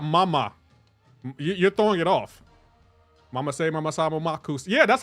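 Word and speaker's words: Mama-say, mama-sa, ma-ma-ko-ssa: Bro, you're not saying it right. You're not saying it right. It's Mama Say, Mama Sa, Mama Kosa.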